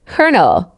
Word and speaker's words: colonel: Colonel KK.